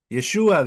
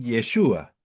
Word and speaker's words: Yeshua: van a ver que a veces le dicen Yeshua, pero ese Yeshua es en arameo porque se escribe distinto. Yeshua cuando es el nombre del Mesías en arameo, no tiene esta he aquí atrás.